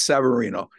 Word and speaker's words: Severino: And with Severino, Chip calls him Severino. I call him Severino. Anyway, whatever, potatoes, tomatoes, whatever you want. It must be a mispronunciation on my end, believe me. Yeah, it's Severino.